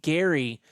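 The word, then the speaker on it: K'gari: I booked us a 2-day adventure to Gary, which is spelled Kgari. The K is silent.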